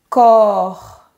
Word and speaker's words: corps: À ne pas confondre avec le Corps. Exactement. Ici, c'est le son O. Le corps.